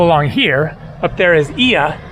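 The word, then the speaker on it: Oia: here up there is ia it is not oya for some reason they spell it that way but uh it's ia up there is where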